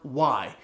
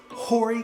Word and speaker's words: Horry: live in is called Horry County. It's an Horry, and it is spelled with the H that is silent, just like in the word honest.